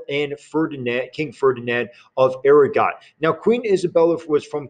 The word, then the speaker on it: Aragon: separate and so were castile and aragon or aragon depending on your pronunciation when they married those